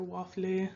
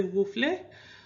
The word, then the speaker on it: waffle: There's other pronunciations for waffle. Some people say woofle.